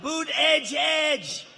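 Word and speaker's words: Buttigieg: have a young guy buddha buddha judge they're saying how to say his name boot edge edge he's a beauty he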